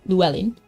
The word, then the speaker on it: Llewellyn: And he said that's how you say it, Llewellyn. My favorite Llewellyn, because I've never heard a single person pronounce it right.